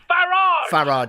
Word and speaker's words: Farage: It's Farage. Pronounce it the British way, please.